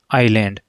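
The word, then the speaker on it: island: इस वजह सेय कचले आईलैंड तो इसके पहले ए एन आर्टिकल का यूज होगा क्योंकि इसका उच्चारण करेंगे तो आईलैंड होगा ठीक है ना तो यहां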